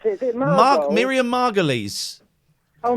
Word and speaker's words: Margolyes: I can't pronounce it. Is it Margot? Miriam Margolyes. Oh, Margot Lee.